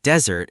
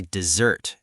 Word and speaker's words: dessert: Yes, if you say a desert, it sounds like a hot, sandy place with camels. For the sweet cake at the end of the meal, we say dessert, emphasis on the second part.